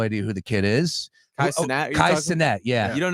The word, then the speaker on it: Kai Cenat: Kai Cenat is how you say it?